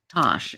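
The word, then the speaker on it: Tass: But it is pronounced Tosh.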